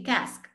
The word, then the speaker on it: casque: It rhymes with mask. So just as you say mask, you say cask.